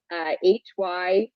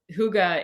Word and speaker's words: hygge: It was HYGGE. Oh, hygge. Hygge. Hygge. Yes. Yeah, it's pronounced.